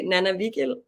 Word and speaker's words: Nanna Vigild: close enough like yeah I would say nana Vil but you're close enough nil I I must